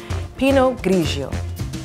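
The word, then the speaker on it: Pinot grigio: Pee-noe grigio. That's the correct pronunciation.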